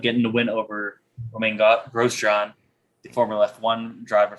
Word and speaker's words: Grosjean: the win over romain grosjean the former left one driver for haas i was watching that race gross john was grosjean sorry i can't even say his name right uh was really um